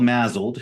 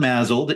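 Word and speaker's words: MASLD: so now it's called mled so the S is is with a is is kind of pronounced with a z so right so so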